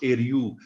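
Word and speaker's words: Ériu: you go right back the celtic name as i understand it for ireland was eryu which loosely pronounced eryu and it was a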